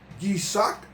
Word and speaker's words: Yitzhak: Para hoy miércoles, Isaac y Rebeca, que se pronuncian en hebreo Yitzhak, Rebeca.